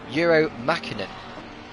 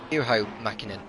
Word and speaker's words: Juho Makinen: Is Euro Makinen. Juho Makinen, as I should pronounce it.